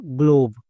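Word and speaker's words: globe: rule long sound ওকার তাহলে কি হলো গো এলো ওকার ভি ভি এর জন্য ভো এবং শেষের ই সাইলেন্ট এই শব্দটির উচ্চারণ কি হলো গ্লোব একে আমরা ভুল করেও গ্লাভ বলতে পারবো না তাহলে একে আমরা রুইস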